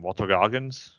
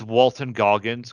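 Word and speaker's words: Walton Goggins: I suggest it Walter um what's his name Walter Goggins yeah I I want I don't want to say his name wrong because he he killed it so I'm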